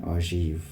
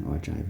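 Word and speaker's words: ogive: or in French they call it it's an ojieve ojieve. The G is quite soft. So essentially when we Englishize this we say or drive. Okay good. Hope you understand why we call it an ojive not anything else.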